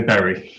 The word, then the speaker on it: Bury: member of parliament for berry south where is it pronounced worry self sorry about my mispronunciation it depends where you're from but uh being a northerner i i would say barry okay all right good